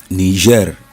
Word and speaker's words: Niger: state in Nigeria Niger there's there are three different confusions normally ner is different from Niger state nigas is the same spelling but different pronunciation there's ner which is Niger Republic then uh we have Niger State in Nigeria is in the center